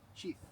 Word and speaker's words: sheath: How you pronounce it? What? Shift. Sheath. Sheath. Sheath. Sheath. S-A-E-A-T-H. S-H-E-A-T. Sheath. S-H-E-A-T-H. T-H. Yeah. Sheath. Right?